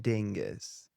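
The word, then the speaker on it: Dyngus: Dingus.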